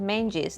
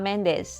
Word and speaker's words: Menges: If hard of hearing therapist Louisa Menges, so her last name is pronounced Menges, not Mendes as it would be if she was Spanish speaking.